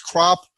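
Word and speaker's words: Kropp: That's spelled K-R-O-P-P, so it's crop, K-R-O-P-P.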